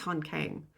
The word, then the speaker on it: Han Kang: Hang Han Kong Han Kang. I think it's Hank Kang. I think I watched some videos and things. I looked up how to pronounce her name correctly and I believe that's right.